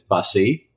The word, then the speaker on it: Busse: I'm like, it's Bussy.